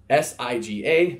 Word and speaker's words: siga: special letter g there siga there's an unwritten end before the G and it's got that